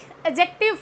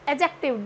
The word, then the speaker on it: adjective: No, adjective. D is silent here.